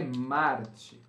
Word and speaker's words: Marte: Marte, não é Martes, gente. É Marte. Obrigado.